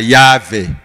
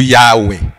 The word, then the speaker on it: Yahweh: Yango no mona siko tellement ba na difficulté pour prononcer un nom qui n'a que de consonnes té. Ba bakisa ba voyelle. Yango ba pour na prononcer ba Yahvé ou Yahweh.